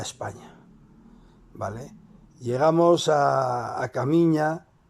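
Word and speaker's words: Caminha: en portugués y es el pueblo se llama Caminja, pero es entendíamos nosotros que era camiña, ¿no? Camiña. Caminja. Se escribía Caminja, pero era Camiña, eh, y era un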